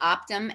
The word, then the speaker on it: OPTIM: Her company, OPTIM LLC, is that how you, OPTIM? Is that how you pronounce it?